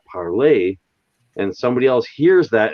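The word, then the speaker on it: parler: so if i take p-a-r-l-e-r and i pronounce that parlay and somebody else hears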